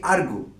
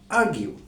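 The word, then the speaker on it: argue: লিখছি বোর্ডে এ আরজি ইউই আমরা নরমালি শব্দটিকে উচ্চারণ করি আরগু। আসলে স্ট্যান্ডার্ড প্রনান্সিয়েশন আরগু নয়। স্ট্যান্ডার্ড প্রনান্সিয়েশন হল আরগিউ।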